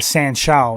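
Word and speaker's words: sanshou: know that must have helped you in the san shou is how you pronounce it yeah Chinese chow total contact fighting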